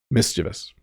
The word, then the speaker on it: mischievous: it wrong but the correct uh the correct pronunciation mischievous um and that's probably a great picture um